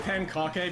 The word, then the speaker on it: Pankake: And yes, I pronounce it Pankake because that's how it's spelled, and it feels vaguely explicit to say it that way, but we'll just move on.